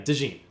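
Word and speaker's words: DeJean: was this guy named Cooper Deon or Cooper Deene I think is how you say his name. Like mustard. Okay. of Dene. Yeah, Dene.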